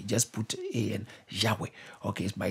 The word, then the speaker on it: Yahweh: All right, Jehovah. But because Y, yeah. Okay, it's not J, it's Y. That's why some people say Yahweh. Just put A and Yahweh.